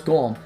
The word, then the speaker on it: GOLM: He asked to be referred to by the last bit, which is of course Golem. Much to his surprise, this ends up being pronounced like Golem anyway.